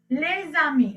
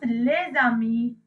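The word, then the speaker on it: les amis: Okay, here I told you when the word is starting with the vowel, you pronounce last s's, right? So here lami and lami, there's no difference in the pronunciation here, and this becomes lezami, and this is again lezami.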